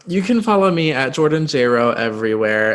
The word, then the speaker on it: Jayro: can follow me at jordanjro everywhere it's at j-o-r-d-a-n-j-a-y-r-o it rhymes with j-lo i love that i